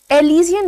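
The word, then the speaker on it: elysian: Now this is one word, एलिजियन ने actually the pronunciation is एलिजियन।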